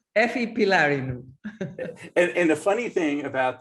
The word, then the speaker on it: Efi Pylarinou: And here I am with Efi Pylarinou. Did I get that right? I don't think so. 98%. Okay. Well, you pronounce it so everybody knows. Efi Pylarinou.